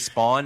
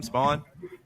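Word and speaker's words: Spaun: Is JJ Spawn is how you say his last name. Spawn.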